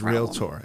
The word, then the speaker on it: realtor: It's realtor.